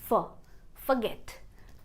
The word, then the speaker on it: forget: Forget, देखो for क्या होती है, हमारी एक प्रपोजिशन होती है, तो वहाँ से हमें आइडिया मिलता है कि ये वर्ड होना चाहिए forget, पर ऐसा नहीं है। यहाँ पर आप इसको प्रोनाउंस करेंगे forget, forget।